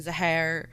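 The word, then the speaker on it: Zaharie: The pilot in command was 53-year-old Captain Zahar. The spelling is Zahari, but the videos that I've watched all pronounced it as Zahar. But the videos that I also watched were all Western.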